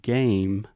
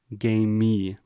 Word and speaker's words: game: started with the word game many of our students have the tendency to say game me and add this extra sound so if you can